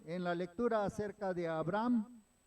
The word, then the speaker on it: Abraham: Bueno, eh se algunos lo pronuncian y claro, nosotros en nuestro español pues decimos que la H no suena y como que la saltamos, ¿no? Pero, por ejemplo, yo creo que han escuchado hablar hablar eh en algunos otros lugares o alguien de de Israel y lo pronuncian Abraham, ¿verdad? Porque la H tiene en algunos en algunos lenguajes tiene un acento especial y Abraham.